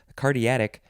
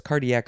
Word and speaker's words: cardiac: cardiac cardiac cardiac veins i wanted to add a syllable there cardiatic no it's cardiac veins receives most of the